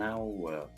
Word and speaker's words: hour: But an hour, an hour, Mm-hmm.